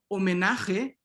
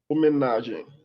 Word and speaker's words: homenagem: Homenagem. Homenagem. Caitlin, paisagem. Passagem. Paisagem. Jeffrey, viaje. Viagem. Viagem. Again, this M here is just orthographic, right? You're not pronouncing it. You're just making the E nasal. Okay.